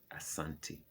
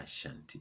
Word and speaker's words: Asante: ashanti in africa is asante no ashanti okay asante it's not ashanti it's a santi a santi their their kin is